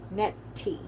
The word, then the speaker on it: Nettie: Um, Nettie is how you pronounce her name.